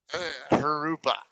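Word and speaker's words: Jurupa: Harupa. Hurupa. J's in Spanish are pronounced like H's. Harupa. Just pretend that it's an H and not a J.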